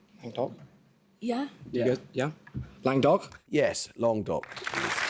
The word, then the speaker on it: Languedoc: Lang-doc?